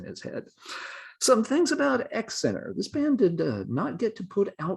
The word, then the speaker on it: XINR: who were known as x center is the way it's pronounced although it's spelled x i n r i'm not sure how